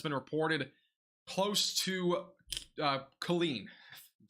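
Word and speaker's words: Killeen: came out of it so Colleen is it Colleen a spotter confirmed a wall cloud near uh Colleen that's how you say it and this is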